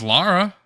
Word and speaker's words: Lara: Nope. It's Lara. You're fried. Laura is my mom's name, bro. You're fried, bro. And it's spelled with a U.